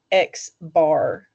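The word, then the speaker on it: x̄: And if you were referring to a sample mean, or the arithmetic average of the data points in your sample, you would call that X bar.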